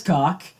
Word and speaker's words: Hieronymus Cock: Hieronymus Cock, yes, that's how you say it, Niccolo Machiavelli, and Michelangelo.